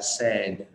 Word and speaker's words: said: Tương tự với cái dạng quá khứ của từ say đọc là said, nó cũng là âm e luôn, nó không phải là said mà nó đọc là said.